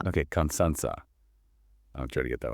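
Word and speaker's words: Constanța: How do you pronounce that? It's Konstanza. Okay, Constanza.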